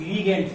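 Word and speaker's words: ligands: आप लिगेंड्स कहोगे, लिगेंड्स, लिगेंड्स pronunciation सही होना चाहिए, लिगेंड्स।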